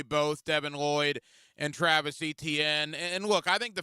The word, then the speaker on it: Etienne: That's what Etienne got, or Etienne. He changed the pronunciation of his name.